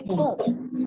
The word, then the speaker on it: comb: B is silent. Comb. We don't say comb. We say comb.